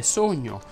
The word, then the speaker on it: sogno: Quando una parola termina in ogna, ogne, ogni e ogno, quella O va pronunciata chiusa. Infatti si direbbe sogno, fogna, ogni, gogna, bisogno,